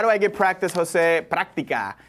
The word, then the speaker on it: práctica: Práctica. Hey, is there an accent on the A? Práctica, I think so. Is that correct? Yes, práctica.